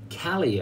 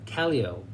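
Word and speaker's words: Callao: to make it to Cali oh I was saying it wrong they say it rhymes with Tally Ho Kelly OH and there of course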